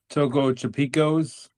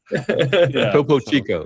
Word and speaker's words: Topo Chico: The Topo Tipicos. Okay. Yeah, I say it wrong all the time. Topo Chico, yeah.